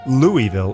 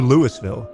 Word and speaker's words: Louisville: Louisville if you're from you say from the outside Louisville or Louisville but if you live there you say Louisville L I'm trying to